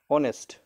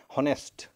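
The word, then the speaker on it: honest: যেমন আমি বলি যেমন অনেস্ট এইচ ও এনই এসটি আমরা কিন্তু বলবো না হনেস্ট হনেস্ট কিন্তু আমরা বলি না আমরা উচ্চারণটা কি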